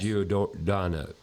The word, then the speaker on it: Giordano: Ivy and the owner, Mike Giordano. I said it right. Yes. Giordano.